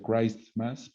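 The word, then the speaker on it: Christmas: occidente en dos pero en inglés es clarísimo no se pronuncia cristmas pero debería no es el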